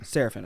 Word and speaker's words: Serafin: adversity king special guest today now help me pronounce the last name it's jeff serafin serafin okay easy that's how i thought it was